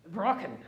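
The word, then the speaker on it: Brocken: peak of the hearts is called the Bracken broken over it's pronounced and you know high peak is relative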